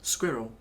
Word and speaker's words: squirrel: the word squirrel squirrel that's how i say you know look at that squirrel squirrel i thought nothing of this pronunciation i just assumed everybody said yeah pretty much like i do now squirrel squirrel squirrel and then i realized how americans say it and it's more like squirrel what kind of sounds like you're pronouncing the word squirrel with a bunch of nuts in your mouth which is what squirrels